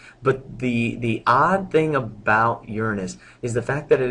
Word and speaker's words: Uranus: A lot of people mispronounce and they try to say Uranus, but it is actually Uranus.